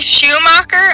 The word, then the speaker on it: Schumacher: For our listeners today, this is Marie Schumacher, I believe is how you pronounce it.